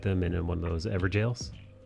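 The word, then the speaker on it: Evergaol: in one of those ever jails it's spelled ever gold but it's said ever jail spelling we don't do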